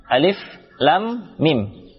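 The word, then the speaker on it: الم: Yang pertama di sini lafaz alif lam mim. Alif lam mim. Cara membacanya yaitu alif, ya, dibaca alif saja, tidak ada panjang. Kemudian la 6 harakat, panjangkan la, bertemu huruf mim.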